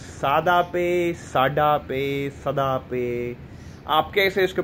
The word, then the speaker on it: SadaPay: मैं खुद बोलता था सदा पे, ठीक है, मुझे लगता था। लेकिन after watching a video and a brother, एक मेरे भाई हैं, उन्होंने मुझे बताया कि भाई आप इसको प्रोनाउंसिएट जो है ना वो सही नहीं करें। द वर्ड इज सादा पे, सादा मीन्स सिंपल, ठीक है।